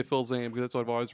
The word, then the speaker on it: Fils-Aimé: Fils-Aimé? Fils-Aimé. Oh, I'm gonna say Phil Zane because that's what I've always referred to him as.